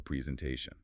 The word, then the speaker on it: presentation: English speakers use a rhythmic bounce for long words. Presentation. The main stress is on the te.